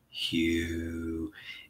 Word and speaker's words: HU: Hugh. It's a sound. That's how you pronounce it.